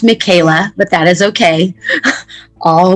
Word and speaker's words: Michaelah: thank you claudine and my name is pronounced michaela but that is okay